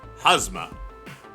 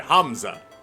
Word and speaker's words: Hamza: of our financial benefactor actor hazma sorry Hamza I keep saying it wrong and I do apologize it is a name and I should get it correct Hamza proved true to